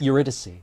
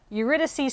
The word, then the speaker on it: Eurydice: how do i pronounce this eurydice eurydice oh off to a thrilling start eurydice